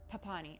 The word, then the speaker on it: Papini: papani i think it's i think it's pronounced papani i'm gonna pronounce it put pawnee butchering names is my uh